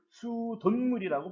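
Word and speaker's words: 수돗물: 수도 더하기 물, 수돈물이라고 발음하죠.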